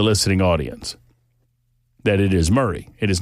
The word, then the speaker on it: Murray: And I explained to this lovely listener that I pronounced it Mari County when I first got here and I was excortiated by the listening audience. That it is Murray. It is not Mory.